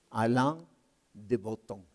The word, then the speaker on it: Alain de Botton: de ellos se llama Alain de Botton, o como lo pronuncian los franceses, Alain de Botton.